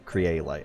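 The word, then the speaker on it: Kyrielight: Craylight. I gotta work on actually pronouncing that correctly, since the VR, Mash VR,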